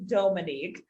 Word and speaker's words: Dhomonique: your name yeah so my name uh is pronounced dominique a lot of folks say dominique but it's actually dominique i i joke that